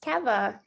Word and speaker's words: Keva: bring on um is i'm pronouncing your name correctly keva or kiva it's keva keva keva it's so good to